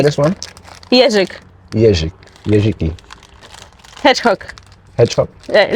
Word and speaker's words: jeżyk: Plastic Jeżyk. How do you say this one? Jeżyk.